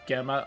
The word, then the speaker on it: Gemma: Arjihun Gemma? I don't know. No one said it out loud yet. I winged it. Priest! It's Gem. Okay. Soft G.